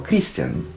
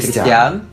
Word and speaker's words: Кристиан: так вот Кристиан Кстати я всё время путаю ударение в его имени Потому что раньше я называл Кристиан Ну потому что это как-то более привычнее но ударение всегда идёт на а кри Кристиан Коста Кристиан ри Кристиан